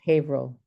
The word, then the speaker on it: Haverhill: Julian, it's Haverhill. What? Haverhill. It's the- Haverhill. I'll Haverhill. probably forget and butcher it again. Okay. It's like Amherst, the H is silent.